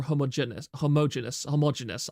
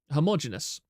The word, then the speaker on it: homogeneous: makes it look more homogeneous. I can't pronounce that word. Homogeneous. I always want to say homogeneous, but that's not how it's pronounced.